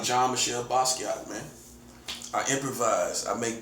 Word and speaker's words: Basquiat: When you first say his name, you know, you gotta get used to it. It's almost like his name is art. You gotta see the name and pronounce the name.